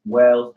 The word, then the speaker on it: Wellz: I'm also on Facebook, Wells, JOSCY_WELLZ. I'm also on Twitter. I just started a Twitter page, so I don't really got any followers. But it's at Wells, WELLZ.